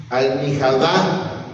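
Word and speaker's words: مخدة: Almihadá. O sea, es la pronunciación en el árabe, y ahí está escrito en como, así de la manera que se escribe la almohada.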